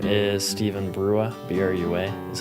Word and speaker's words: Brua: Name is Steven Brua, B-R-U-A is how it's spelled, Steven with a P-H.